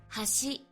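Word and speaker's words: はし: The most famous examples include words like bridge and chopsticks being pronounced with the same kana, but they have different pitch patterns. Hashi.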